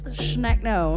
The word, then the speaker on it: Schneckno: awesome I love that so in German it's schneck no schneck no we'll be doing some